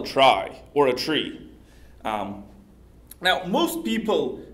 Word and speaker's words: trie: a trie, or a tree. Now, most people pronounce this particular word as trie, because the word tree already exists. But originally, the word trie came as a part of the word retrieval.